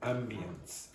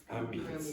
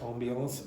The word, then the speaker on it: ambience: up great okay so in English the way you pronounce that word is Ambience Ambience it's a French word Ambiance and it's to do